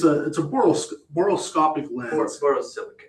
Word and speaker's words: borosilicate: borosilicate. Borosilic, sorry. I always pronounce it wrong.